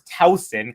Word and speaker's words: Tauson: you were hearing correctly I was the one pronouncing it incorrectly so it is of course Towson Clara Towson sometimes when I was